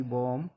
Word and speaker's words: bomb: BOMB बॉम B silent रहेगा।